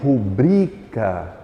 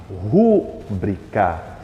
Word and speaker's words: rubrica: outra eu tenho aí rubrica rubrica que muita gente costuma colocar como acento sendo chamado de rúbrica Ou seja a palavra rúbrica com acento não existe o Volpe bem que